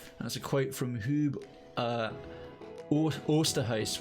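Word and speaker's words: Huub Oosterhuis: And that's a quote from Hub Oosterhuis, which is a Dutch, clearly a Herb, or if I pronounce that correctly, Herb Oosterhuis, to use the proper Dutch pronunciation.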